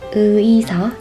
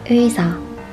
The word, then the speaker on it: 의사: It is not 의사, it's 의사, 의사.